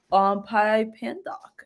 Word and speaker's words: Pypandoc: What's Pypandoc, if I'm saying it right?